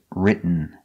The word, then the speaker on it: written: The pronunciation of written. You go to a stop T, writ, but you don't make the T. You stop, writ, and then you fall to an N. Writ. Written. This is the same pronunciation at the end of eaten.